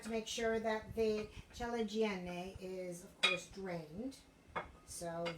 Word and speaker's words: ciliegine: But we're using cherrier sized tomatoes, so we're going to use the ciliegine, I have to say it correctly, ciliegine, which are the larger of the balls of mozzarella.